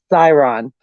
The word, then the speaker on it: Chiron: How do you say citron? I say citron, but it's not citron. It's Chiron.